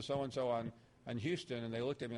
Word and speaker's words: Houston: corner of Bleecker Street and Houston which is pronounced Houston everywhere but there was another restaurant on that